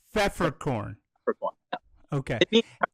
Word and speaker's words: Pfefferkorn: Pfefferkorn. Peppercorn? That's close enough. It's pronounced with an F instead. It's Pfefferkorn.